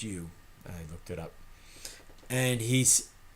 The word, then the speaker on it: Ryu: covered in cream you that's Ryu pronounced you hook it up and